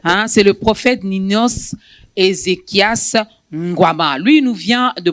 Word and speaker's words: Ngouama: Ngwama, j'espère que je n'ai pas massacré votre nom, prophète. Non, c'est Ngwama. En tant que bantou, tu l'as bien prononcé.